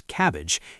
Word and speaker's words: CABG: A coronary artery bypass graft, a CABG, which surgeons pronounce cabbage, is the most common open heart surgery.